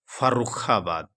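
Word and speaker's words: फ़र्रुखाबाद: है, फर्रुखाबाद लिखा है, जबकि फ में नुख्ता होना चाहिए, वहाँ रहे तब उसका उच्चारण होगा फर्रुखाबाद। फ नहीं पढ़ा जाएगा, फ पढ़ा जाएगा।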